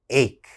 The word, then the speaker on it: ache: students mispronounce this word this word has ch in it so a lot of my students say h okay that's wrong that ch has to have a strong k sound ache ache what is an